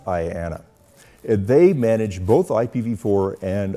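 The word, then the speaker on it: IANA: numbers Authority or IAA usually just pronounced Ayana they manage both ipv4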